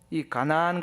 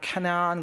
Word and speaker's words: 가나안: 여리고가 어디예요 지금 가나안이이 가나안 가지고 발음을 카나안 그래 가지고 카나다 그는 분도 있어요 그래서이 정통 가나안의이 혈통을 이어받은 사람이 카나다 사람이다 뭐 그런 사람입니다 그게 아니고요 가나안이라는 것은 이스라엘